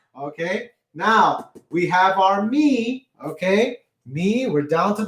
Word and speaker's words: mi: Okay, now we have our me.